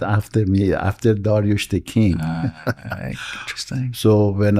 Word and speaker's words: Darioush: Uh pronunciation in in US is Darius, but in the correct pronunciation in Farsy is Darush.